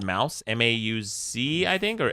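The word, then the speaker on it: Maus: Holocaust graphic novel called Mouse, M-A-U-C, I think, or S? M-A-U-S. And it's a Pulitzer Prize-winning one. Like Dead Mouse? No. Yeah, I guess like Dead, but without dead, so just mouse.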